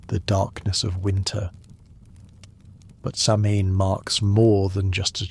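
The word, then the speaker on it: Samhain: The word sain pronounced sa in means summer's end.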